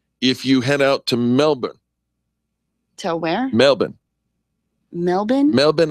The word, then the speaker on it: Melbourne: Well, be careful, Jay, if you head out to Melbourne.